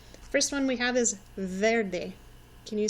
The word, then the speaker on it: verde: First one we have is verde. Can you say that with me? Verde. Verde. You might notice that the E actually sounds like an A. Verde. Okay, find your verde and color it in.